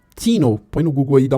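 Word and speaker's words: Theano: A sexta biblioteca é a Theno, eu vou pronunciar como que escreve, é T-H-E-A-N, Theno, põe no Google aí, dá uma olhadinha.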